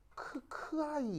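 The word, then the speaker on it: χ: 읽을 때 어떻게 읽냐면 크하이 이렇게 읽어요. 크하이. 그래서 크하이 이렇게 읽는데 이제 H가 거의 소리가 잘 안 들려서 카이 뭐 이렇게 이제 들리는 거죠.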